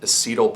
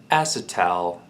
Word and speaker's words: Acetal: it I would be tempted to call it acetyl polymer but google tells me it is pronounced acetone acetone acid ow acid tell acid tell anyway they say this is a